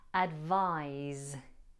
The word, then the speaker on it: advise: some advice advice is the verb and is pronounced with a z sound instead of a sound advise I want to improve the short video lessons